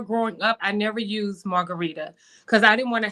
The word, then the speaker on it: Marguritte: it correctly I say margarit yes and that's the way it looks but it's actually pronounced like the drink margarita wow that's so good